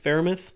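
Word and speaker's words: Freiermuth: the board um you did they picked pat farimith yeah they did pick him up um and you know that's how you pronounce that third and fourth round is good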